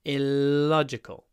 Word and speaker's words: illogical: do it was illogical really important to pronounce the L with an open mouth illogical the next one the